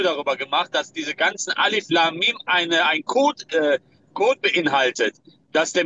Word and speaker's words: Alif Lam Mim: Dieses Alif Liamim, oder wie das ausgesprochen wird. Alif Lam Mim, ja, Alif Lam Mim.